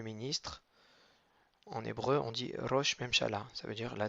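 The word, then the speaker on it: ראש: sert juste à prolonger le son o qui est déjà suffisamment long mais là il l'intensifie donc ça fait Ro et ensuite on a un Chine donc faut pas oublier le point en haut à droite il n'a pas de voyelle donc c'est un tout simple donc ça fait Roch deuxième mot c'est haé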